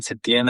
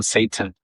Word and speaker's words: Setien: No, I mind because Setien and many people always call me Satan, like the devil.